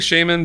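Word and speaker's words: Shaman: he gets captured by are we saying shaymin because that's how they pronounce yeah let's go with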